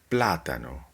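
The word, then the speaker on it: plátano: And an example of the third to last syllable is the word platano, platano, banana, platano.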